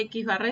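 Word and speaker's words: x̄: Y si trabajamos con datos de una muestra se denota como x barra. Se lee x barra y se escribe x con la barra encima.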